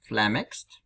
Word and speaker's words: flummoxed: Читается как flummoxed с ударением на ме. So it's read as like that, with the emphasis on ме.